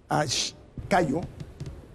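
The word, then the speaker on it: Caio: Cayo, se escribe C-A-I-O, Cayo Mañaneri, él es encuestador.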